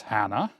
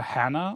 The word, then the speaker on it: Hannah: Do I pronounce a Hannah or Hana? It's probably Hana. I mean, because it's an Austrian village. And I said that I would pronounce everything that's like German, like in the German language in German.